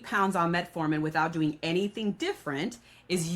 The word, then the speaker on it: metformin: It's metformin, right? That's how Correct. you pronounce it.